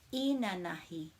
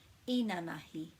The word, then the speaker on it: inanahi: Inanahi, inanahi. So inanahi means yesterday. When we don't have a macron or a double vowel, we put the emphasis on the first syllable, inanahi, inanahi, and that means yesterday.